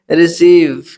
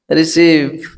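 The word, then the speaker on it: receive: Next friends ई के बाद जब किसी वर्ड में ई आई आए तो ई आई का उच्चारण बड़ी से करते हैं, पढ़ते हैं। जैसे रिसीव, क्या? रिसीव, कंसीव, सी ओ एन सी ई आई बी, कंसीव। ऐसे डिसीव, ये सारे वर्ड्स देखिए किस तरह से बड़े ई का उच्चारण लेते हैं। यानी जब ई के बाद आई हो तो वहां बड़े ई का उच्चारण होता है, ठीक है।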